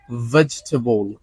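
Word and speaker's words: vegetable: আছে আচ্ছা fourth one ভেজিটেবল ভেজিটেবল নট ভেজিটেবল ভেজিটেবল ভরের দাঁতকে নিচের ঠোঁটের সাথে লাগিয়ে উচ্চারণ করতে হচ্ছে ভেজিটেবল ভেজিটেবল ওকে রেস্টুরেন্ট রেস্টুরেন্ট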